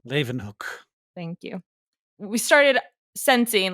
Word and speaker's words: Leeuwenhoek: So when we first started seeing microorganisms, so scientists like Hook or Leeuwenhoek, I don't know how to say his name. Leeuwenhoek.